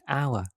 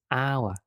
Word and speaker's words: hour: for example the word hour the starting letter is H but H is silent that's why the first sound is hour it's a vow sound that's why we use an an hour let's have a look